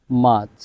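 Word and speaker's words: March: জানুয়ারি February F February মার্চ মার্চ কেন মার্চ হলো আর এর পরে কনসোনেন্ট যার কারণে আর এর উচ্চারণ হবে না মার্চ মাচ April April April May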